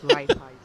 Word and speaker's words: Raiffeisen: How it's pronounced because there is a bank kind of institution called like that, and that's how you pronounce it.